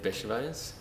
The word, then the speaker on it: Bechervaise: It's Bechervaise. It's a hard to pronounce last name.